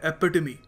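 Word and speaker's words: epitome: इसको ओके देखिए अगला शब्द है ये इसको प्रोनाउंस करने का सही तरीका है एपिड ई पी आई टी ओ एम ई एपिड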